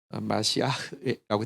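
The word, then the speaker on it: מָשִׁיחַ: 메시아, 그 히브리 발음으로 하면 마시아라고 돼 있는데, 어쨌든 이 메시아를 만났다라고 이야기를 하는데 보십시오.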